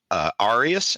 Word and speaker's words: Arias: So next up we have Moises Arias, and I hope I pronounced this right. I listened to a couple interviews with him. I believe it's pronounced Arias. It's Arias.